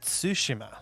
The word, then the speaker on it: Tsushima: Ghost of Tsushima. That's how it's actually pronounced.